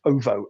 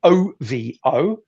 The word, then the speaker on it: OVO: The show in this instance is called, I believe it's pronounced OVO, OVO.